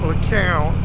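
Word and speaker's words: Lecompte: Now it ain't spelled nothing like you say it, but it's pronounced LeCount, and yet it's got a P in it, and it ends with an E.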